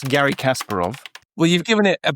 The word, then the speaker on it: Kasparov: Or pronunciation. Surely Kasparov.